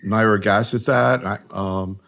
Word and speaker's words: nirogacestat: Maybe we ought to start talking about these new agents, particularly nirogacestat. Actually, I heard you pronounced it differently.